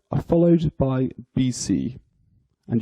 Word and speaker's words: BC: 0 are followed by bc and you pronounce this as two letters of the alphabet so just b c so we've got